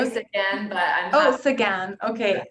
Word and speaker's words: Sequin: joined today with celine uh by guest speaker selena sequin am i saying your last name correct yeah multiple pronunciations again but oh sagan okay salinas again who is a career coach at norquest college